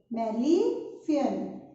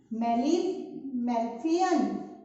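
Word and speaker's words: Malpighian: In the body of cockroaches, it is called as Malefian. Here G is silent. Okay. Malefian.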